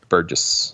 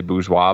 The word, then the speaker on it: Burgess: Burgess. Burgess with 736. I think a lot of people say bourgeois, but just looking at the pronunciation, I don't believe that that's how it's pronounced.